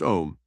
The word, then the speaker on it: Om: Say the mystical mantra om pronounced om five times softly under your breath.